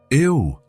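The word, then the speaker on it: eau: And in French, eo. Elena said, "It looks strange, doesn't it? It's spelled E A U, but pronounced O."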